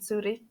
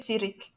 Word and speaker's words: Zurich: The FIFA headquarters are found in Zurich. I'm pronouncing it in German, guys, because I can speak German. How do you say that in English? Zurich. Let me just say Zurich, okay?